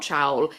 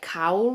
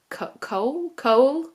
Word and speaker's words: Chaol: In my mind I want to say Chowl, but it's not Chowl. It's I think you are meant to pronounce it Cowl or Cole, more like that, but in my mind,